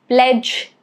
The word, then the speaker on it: pledge: And for letter G, I've got examples of pledge, grudge. Okay, both these words letter G is silent.